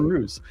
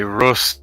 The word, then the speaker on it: Roos: you saying it right you're actually saying it right so it's all good usually people will say rust or or ross i get ross a lot in america but you got it right mate so now um